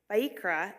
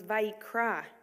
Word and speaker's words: Vayikra: Vayikra ends with an aleph, a silent letter, but this is no ordinary aleph.